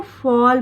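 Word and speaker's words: fall: फॉल, इसको English का rule ये है कि ए के बाद अगर डबल एल साथ में आता है तो इसका उच्चारण ऑ के साउंड में होगा, तो इसको फॉल पढ़ेंगे।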